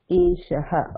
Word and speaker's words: एषः: say Eshah Eshah so make sure to pronounce visarga Eshah okay sir Eshah Vanarah